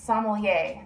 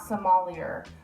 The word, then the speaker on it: sommelier: If you ever wondered how to pronounce that word, it's sommelier, not sommelier. I hear a lot of people say sommelier.